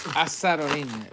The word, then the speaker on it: Arozarena: So it's Arozarena.